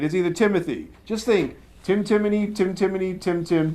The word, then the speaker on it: Timoney: tum me it is either Timothy just think Tim timy Tim timy Tim Tim T Tim yeah I